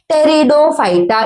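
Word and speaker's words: Pteridophyta: ब्रायोफाइटा अब आता है टेरिडोफाइटा इसका पी साइलेंट है क्या है बेटा टेरिडोफाइटा प्लांट्स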